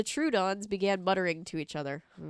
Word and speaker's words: Troodon: true the true dawn sorry I've been saying it wrong the true Dons began muttering to each